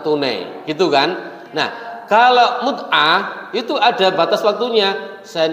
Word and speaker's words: mut'ah: Nih, kemudian pernikahan kontroversial yang kedua adalah mut'ah. Bukan mu'tah tadi ya, mut'ah, walik bacanya.